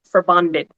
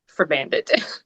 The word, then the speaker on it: Forbandet: The name uh for bandit, it is actually a Danish and Norwegian word and it's if we're going to get technical about the pronunciation, it the the proper technical pronunciation is for bonded, but I just say